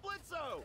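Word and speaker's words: Blitzø: Hey, that sounds like Blitzo. The O is silent, asshole.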